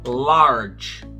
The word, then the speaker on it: large: Quantas vezes eu abri a boca? Large. Uma só, né? Não é large. Não. Esse E não é pronunciado, tá? Então, eu só abri a boca uma vez.